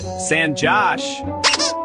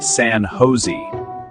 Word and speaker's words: San Jose: It's actually pronounced San Jose. Oh, really? Yes. In English here, the J is pronounced like H.